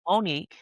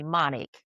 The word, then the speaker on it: Monique: And even, you know, some teachers that would, I believe, intentionally mispronounce my name. When they knew it was Monique, they would call me Monic. Or Monique Q.